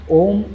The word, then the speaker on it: ॐ: जब आप ओम बोलते हैं, ओम का उच्चारण करते हैं, तो एक ही वाइब्रेशन हमारी पेट में होती है। यू का वाइब्रेशन चेस्ट में होता है एंड म का जो वाइब्रेशन होता है, वह हमारे गले से निकलता है।